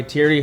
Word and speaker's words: Thierry: are car culture cultivators today we're joined by Thierry hogund is that did I pronounce it correct perfect I watched a YouTube